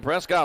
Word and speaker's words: Prescott: Mike Moranis track at Prescot Valley but it's pronounced Prescot up there all right 20's a